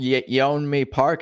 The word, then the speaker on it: Yeonmi Park: Yeonmi Park, is that how you say her name?